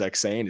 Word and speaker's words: Eksayn: So if people want to reach me, the Principal podcast, my name is Eksayn. It's Eksayn. It's really wild. It's spelled kind of, it's a different name.